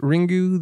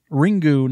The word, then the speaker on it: Ringu: yeah like so okay this is the correct pronunciation yep you nailed it um so yeah we're talking about ringu the Japanese original of the ring so and